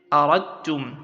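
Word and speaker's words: أَرَدتُّم: So you say aradtum, that is, you do not pronounce the dal, you only pronounce, you insert the dal into ta, giving it shadda, and you pronounce the ta only.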